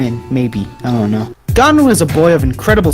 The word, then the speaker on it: Gon: Why are you saying Gone like Gone Girl? Because I'm mentally retarded. Gone! Gon! I know it's Gon, it's just how I pronounce it.